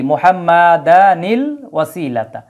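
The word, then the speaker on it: محمدا الوسيلة: যদি আমরা এইভাবে থামি যে মুহাম্মাদ ওয়াসিলাতা ওয়াল ফাদিলা, তখন কিন্তু আর নুনের উচ্চারণটা আসবে না। কিন্তু আমরা যদি একটানে পড়ে যাই মুহাম্মাদানিল ওয়াসিলা, তখন এইভাবে নুনটা চলে আসবে, হ্যাঁ নুনে কুতনির উচ্চারণটা চলে আসবে।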